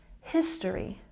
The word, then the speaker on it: history: here at the bottom we've got stress on the first syllable history history and next we have